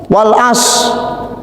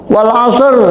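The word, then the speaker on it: والعصر: Wal as. Ra-nya mana? Wal asr, bukan wal as.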